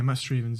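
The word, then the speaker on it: Matt Strevens: Yeah, Matt Strievens, yeah.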